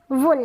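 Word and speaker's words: wool: कैसे प्रोनाउंस करना है यह है वूल ताकि वूल ठीक है वूल यानी उन तो यहां पर डबल ओ का जो उच्चारण हुआ है वो शॉर्ट साउंड है जो छोटे यू की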